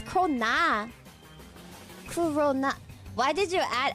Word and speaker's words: krona: apparently Swedish Krones. I don't even know how you pronounce it.